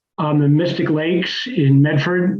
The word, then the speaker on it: Medford: On the Mystic Lakes in Medford, which is, as you all know, pronounced Medfa.